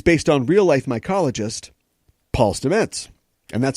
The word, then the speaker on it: Stamets: Paul Stamets is based on real-life mycologist Paul Stamets and that's how you pronounce his name now I know how to